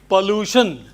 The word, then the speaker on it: pollution: Pollute, and if you extend the word, it should be pollution. Not pollution or pollute. But if somebody else is pronouncing it as pollution and pollute, let them.